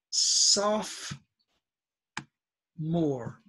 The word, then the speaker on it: sophomore: not say this oh do not pronounce the O is it's soft more okay 11th grade is